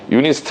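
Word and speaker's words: UNIST: 디스트 광주의 있구요 아 울산의 있어요 유니스트 라고 읽어요 아 얘 어디 있을까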